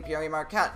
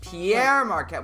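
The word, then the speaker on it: Pere Marquette: yeah by the way regarding how you're pronouncing the name i've owed it i've always heard it be called pierre pierre marquette well that's uh i think that's french yeah french um but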